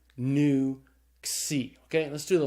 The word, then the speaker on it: nu: That's the N sound. So the nu is pronounced like the N in the English word new. But then we have another